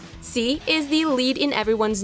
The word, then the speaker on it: Sy: Sy (pronounced see) is the lead in everyone's new favorite Netflix series Lupin.